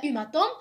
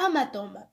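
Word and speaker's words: hamatum: donc pour les os de la main كاين واحد الخطأ في la prononciation، ما نقولوش humulus ولا humatum، نقولوا amatum.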